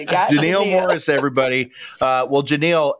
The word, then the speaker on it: Genile: on here so yeah just think captain inal and replace the T with a G there it is janal Morris everybody uh well